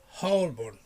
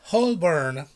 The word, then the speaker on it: Holborn: Holborn. Okay, once more. Holborn. It's not Holborn. No. Holborn. Okay.